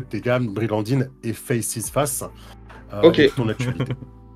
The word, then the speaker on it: Faces: associée à Brigandine, de Faces qui en fait se prononce face, les amis, je viens de l'apprendre hors caméra.